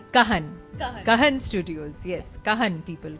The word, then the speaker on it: Cahn: pronounced. Kahan.